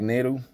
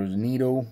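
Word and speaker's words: Neto: guys know I'm collecting Zach NATO or Neato whichever way he's you guys want to pronounce it I like calling him Zach Neato cuz he's Neato so uh here's his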